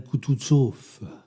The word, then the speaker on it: Kutuzov: Le général Kutuzov, said Bolkonsky, stressing the last syllable of the general's name like a Frenchman.